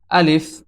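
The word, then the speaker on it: ا: থেকে প্রথম হরফটি হচ্ছে আলিফ আলিফ এই হরফটি মুখের খালি জায়গা হইতে উচ্চারিত হয় আমাদের এই যে মুখ দেখতেছেন এই মুখের খালি জায়গা হতে আলিফ হরফটি উচ্চারিত হয়।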